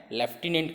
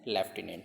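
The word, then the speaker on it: lieutenant: हूं लेकिन वो डी इसको रीड कैसे करना है लेफ्टिनेंट करना है ठीक है शॉर्ट में हम लोग रिलेटिव होते हैं या फिर ऐसे ए लिटिल कमेंट यह स्पेलिंग है ठीक है तो माइंड में ड्यूटी नहीं रखना है लेकिन वर्ड पढ़ना कैसे हैं लेफ्टिनेंट है तो लेकिन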